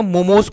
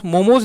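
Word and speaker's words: momo: जैसे बहुत से लोग क्या मोमोज बोलते हैं, मोमोज नहीं होता, मोमो होता है, ठीक।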